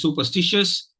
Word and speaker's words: superstitious: uh the word is superstitious it is a four-syllable word please don't pronounce it as a five-syllable word mean nothing wrong in